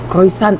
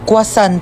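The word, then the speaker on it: croissant: Croyant daw. Croisant. Ah quasant po.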